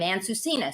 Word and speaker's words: Ansusinha: laughing beforehand how do you say your name aunt susina so i got it down where is where's